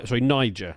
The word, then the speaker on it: Niger: Niger. Sorry, you got to pronounce that one carefully.